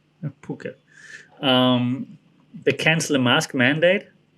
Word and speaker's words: Phuket: had the news that phuket um how the americans say it because it's about ph it's called phuket phuket they cancel the mask mandate so they can